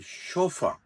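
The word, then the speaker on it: chauffeur: U double F यू uh this इ called शोफर शोफ व जो प्रोफेशनल ड्राइवर होता है इ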